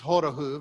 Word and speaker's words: Horochów: a hard time pronouncing the town that charlene lived in is hodahuv it sounds like or phonetically would be horachao but she spent a long time with me to get it right so i worked on